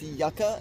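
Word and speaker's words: yuca: Um, also, I believe that's pronounced yaka.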